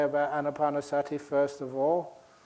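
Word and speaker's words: ānāpānasati: things I say about annapanasati first of all remember to pronounce it correctly it's not Anna painter Sati I imagine that because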